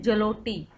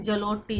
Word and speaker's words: Zloty: और यहाँ की करेंसी है पोलैंड की पोलैंड जलोटी। पोलैंड जलोटी, जलोटी की स्पेलिंग होगी भाई ZLOTY, ठीक है, जलोटी।